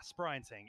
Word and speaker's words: Sprinting: Yeah, Sprinting. It's spelled like sprinting, but it's like German or something Germanic in origin.